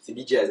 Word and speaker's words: Djaay AZ: Ouais, alors c'est tout simple, en fait, c'est DJ AZ, hein, c'est comme vous le dites. En français, il y a certains de mes amis qui le disent en anglais, donc ça fait DJ AZ.